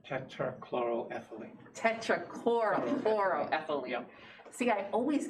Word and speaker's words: tetrachloroethylene: Well, it's under an environmental covenant because there are tetrahydrochloroethylene. Tetrachloroethylene.